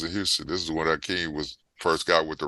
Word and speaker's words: Hakeem: He was like, actually, y'all been spelling my name wrong. It is Hakeem. It's Hakeem.